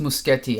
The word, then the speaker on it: Muschietti: Oh, by the way, it's pronounced Muschietti. I just looked it up.